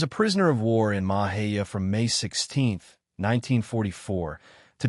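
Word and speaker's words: Mexia: to be transferred to Camp Mahia, which is pronounced Mahia.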